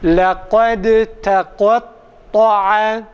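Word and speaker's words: لقد تقطع: Dalı okumuyoruz. Dalı ta'ya çeviriyoruz.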